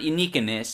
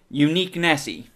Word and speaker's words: Uniquenesse: comom that's uniqueness spelled with an E not at the beginning at the end uh it's not uniess it's uniesse or some welcome